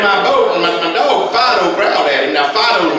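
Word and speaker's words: Phideaux: So he stepped down in my boat and my dog, Fido, growled at him. Now, Fido's my retrieving dog. You spell that P-H-I-D-E-A-U-X, Fido, see?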